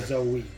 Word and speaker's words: Zoe: Well, her name is Zoe. Oh. Though, as a kid, I thought her name was just Zoe. I didn't realize that was actually Zoe.